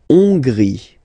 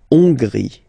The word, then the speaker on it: Hongrie: La Hongrie. So remember, H doesn't exist, so you don't pronounce it. So it starts with O-N, on, and then gris, final E, not pronounced. La Hongrie.